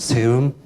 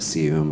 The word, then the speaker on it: SEUM: My firm is called SEUM. That's the correct pronunciation, but you don't have to say it like that. You can call it SEUM or whatever you want to call it.